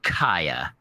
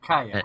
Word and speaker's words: Kaeya: fans, I'm sure they'll want me to say Kaeya is the correct pronunciation. Kaeya.